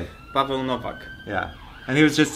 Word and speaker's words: Paweł Nowak: Paweł Nowak.